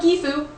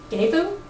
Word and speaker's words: Gebo: So, Gebo. Why do you hate me? The first meaning of Gifu, or Gefu? Gebo. So many different ways to pronounce this rune.